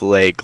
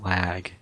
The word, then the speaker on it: lag: You say it like leg, like the putty part, but it's not. It's lag.